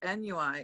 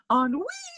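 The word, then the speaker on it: ennui: think so and then what i read is nui is on me i learned how to pronounce that i want to say like four months ago i really don't agree i think i think nui sounds a lot more sophisticated than on wee it sounds like what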